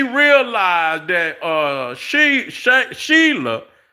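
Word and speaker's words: Shelah: So she realized that uh she sha Sheila, I keep saying that, but it sound I mean, that's how it's spelled. s h e l a h.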